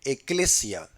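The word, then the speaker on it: ἐκκλησία: Inclusive en el idioma griego, la palabra iglesia es una palabra que se pronuncia en el griego eclesia, que si uno busca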